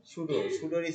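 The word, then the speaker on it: pseudo: সুডোর spelling হবে এরকম, PSUDO, সুডো, PSUDO, পির উচ্চারণ আসবে না।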